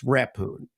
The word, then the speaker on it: Rephun: would learn oh yeah that's a silent h and it's a for Accent on the E and it's rapune well you know you